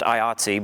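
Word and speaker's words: IATSE: and help us out it's an acronym it's usually pronounced iatsi but it's international alliance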